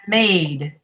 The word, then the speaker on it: maid: and maid.